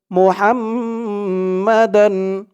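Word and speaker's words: محمدا: জবর মা হাম্মা মুহাম্মা দাল দুই জবর দান মোহাম্মদান ওয়া আশহাদু আন্না মুহাম্মাদান ওয়া আশহাদু আন্না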